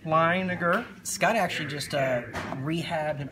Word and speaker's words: Leininger: And Jordan pronounced his name correctly, Leininger.